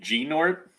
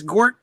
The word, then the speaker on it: Gnort: What else could you say? Like G-Nort? You could say Nort. Maybe I think some people think that the G is silent or that the N is silent and it's Gort. Gord. But I go Gnort.